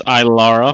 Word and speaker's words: Ilara: Okay, who can pronounce this one for me? Alara? Ilara. It's Ilara.